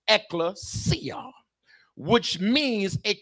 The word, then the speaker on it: ekklesia: But the word church, my brothers and sisters, is taken from the Greek word pronounced ekklesia, which means a called out group or an assembly.